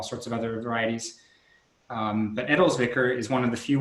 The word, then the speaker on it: Edelzwicker: Because the first one is you pronounced it Meyer Fonet, Edelzwicker, and did I say Edelzwicker correctly?